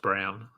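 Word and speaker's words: Braun: it should be brwn but I know it's pronounced Brown yeah I know but why I don't know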